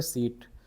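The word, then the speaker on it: Seibt: उनका नाम है रिचर्ड सीट सीट बोलते हैं स्पेलिंग है इनकी एसई आई बीटी एसई आई बीटी ठीक है यहां बी साइलेंट है सीट बोल देते हैं या सी सी बता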